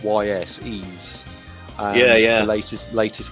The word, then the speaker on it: Ys: one uh then i played that um please it's spelled ys ease yeah yeah the latest latest one of that